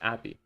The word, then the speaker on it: API: Pronounced like happy without the H. Appy.